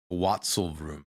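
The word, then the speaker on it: Tatzelwurm: Based on original German, the pronunciation is Watzelvrum.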